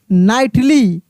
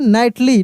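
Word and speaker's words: knightly: KNIGSTLY, नाइटली, क्योंकि नाइट से बना है, नाइटली, ठीक ना।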